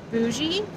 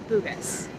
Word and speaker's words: Bugis: how to pronounce this is it bougie bogus according to Google and YouTube it seems to be Bugis and so that's where